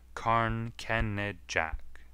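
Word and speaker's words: Carn Kenidjack: a bleak hill between saint just and morva karn kennerjek is its real name but they are taking now to spelling it as it is pronounced karn kenned jack from it weird moaning sounds arise at night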